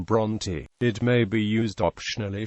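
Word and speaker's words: Brontë: to discourage a similar mispronunciation, the mark is also used in the surname Bronte.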